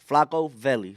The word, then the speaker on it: Flaco Velli: So Flaco, like Joe Flacco, the Flacco player, the football player. I'm sorry, Flaco Velli.